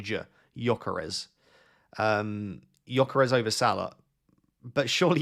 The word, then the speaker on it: Gyökeres: Yes, and he said it's Victor Gyökeres. I need to say not J.